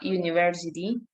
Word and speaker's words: university: An uncle, but a university. The you at the beginning of university sound like you.